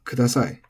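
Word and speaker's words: ください: pay attention to, because when it's said on its own, it is pronounced as accented. Sorry for the interruption, but when this is said on its own, for instance, kore o kudasai, then it has an accent from the a to the i, kudasai.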